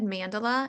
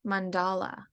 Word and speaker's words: Mandala: of your publishing company i said mandala it's not mandala it's mandala yeah like tell me the